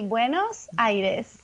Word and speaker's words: Buenos Aires: How would you pronounce it, Martina? So we say buenos-aires.